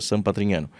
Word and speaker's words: San Patrignano: Falei: "Ah, beleza recebi e olhei quem tava no painel comigo era um projeto chamado San Patrignano, que que em italiano se fala, se pronuncia sanatrinhano.